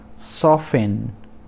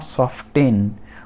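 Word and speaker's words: soften: उसके बाद सॉफन, नॉट सॉफ्टेन, बहुत सारे लोग इसको गलत प्रोनाउंस करते हैं, सॉफ्टेन बोलते हैं, तो ये सॉफ्टेन नहीं है, सॉफन मतलब कोमल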